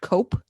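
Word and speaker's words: Copp: the north burying ground william kopp c-o-p-p it's sometimes uh pronounced cope c-o-p-e was a shoemaker who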